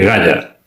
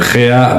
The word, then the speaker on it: Gea: Gea viene a ser lo mismo que Gaia. En realidad es una transliteración, según se pronuncien esas letras griegas, se puede decir Gea, Gaia o Gaia, ¿de acuerdo?